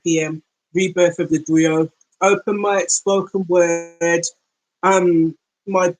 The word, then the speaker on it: griot: I believe you pronounce it Griot, even though it's spelled Griot.